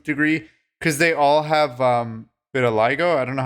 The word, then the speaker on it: vitiligo: because they all have vitiligo. I don't know how to pronounce it. Yeah, the Michael Jackson skin disease. Yeah. Vitiligo. Is that how it's pronounced? That's how I've always heard it.